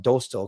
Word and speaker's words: Dostal: You know I can't pronounce his name, so I'll call him Dostal because it rhymes with postal.